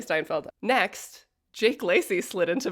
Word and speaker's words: Steinfeld: Um, I repeatedly mispronounced Haley Steinfeld's name. I kept calling her Stanfeld. Haley Stinfeld. Sorry, Haley Steinfeld.